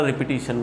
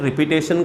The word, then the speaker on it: repetition: Spelling बराबर देखो जरा रिपीटिशन का, बहुत ज़्यादा बच्चे रिपीटेशन का स्पेलिंग अलग लिखते हैं, उसका प्रोनाउंसिएशन है रिपीटिशन। What is that, रिपीटिशन, ध्यान में रखना है, प्रोनाउंसिएशन क्या करना है, रिपीटिशन, नॉट रिपीटेशन।